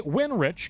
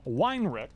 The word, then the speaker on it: Winrich: He kindly came up and corrected his name pronunciation. We were calling him Weinrich. But much like what he wants to do today, he wants to win rich at the Firecracker Bracket National.